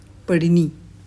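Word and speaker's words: पाणिनि: इसका नाम, इसका प्रोनाउंसिएशन क्या है, पढ़िनी, ठीक है, पढ़िनी, ठीक है।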